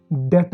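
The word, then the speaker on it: debt: हम इसको बोलेंगे सेटल इन सब शब्दों में टी की आवाज़ ए रही है लेकिन बी साइलेंट हो जा रहा है दोस्तों जैसे इंग्लिश में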